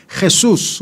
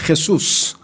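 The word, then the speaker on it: Jesús: 스페인 사람들은 또 이 J 발음을 히읗 발음을 세게 해요. 그래서 헤수스, 그래 헤수스.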